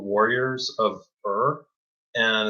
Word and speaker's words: Urh: uh my comic idea it's called warriors of er and it's spelled urh and um it has to it